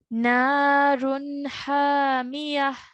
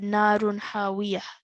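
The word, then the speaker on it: نار حامية: And then at the end, it's narun hamiyah. نار هاوية. Okay, what's this letter? الميم. Yeah, so try that again, this verse again. You pronounced it as a waw. You said narun hawiyah.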